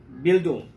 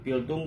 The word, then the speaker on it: Bildung: dimana Gadamer menggunakan istilah dari bahasa Jerman yaitu bildung mungkin saya salah spelling (ejaan) saya tapi kalau saya boleh spelling B-I-L-D-U-N-g